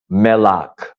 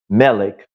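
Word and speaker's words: מלח: you know yam H hamik melak not melik Melo is how you say salt in Hebrew you have the areas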